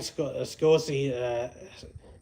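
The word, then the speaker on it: Scioscia: And Mike Scosi, it's kind of hard to say his name, so it's Mike.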